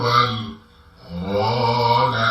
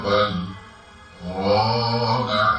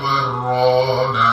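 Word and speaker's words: بَلْ رَانَ: Maka untuk membacanya, kalla bal rana ala qulubihim. Seperti itu, kita ulangi lagi. Kalla bal rana ala qulubihim. Tidak boleh dibaca seperti ini. Kulla barrana ala qulubihim, tidak diperbolehkan karena ada tanda sakta.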